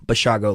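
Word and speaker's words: Basiago: he actually he told us it was like Chicago, Bashago, like Chicago.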